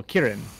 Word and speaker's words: Kirin: depending on who you ask, it's either a yellow dragon or a yellow Kirin, or Jilin, if you're going through the Chinese pronunciation, which is fair, considering that's where it's from.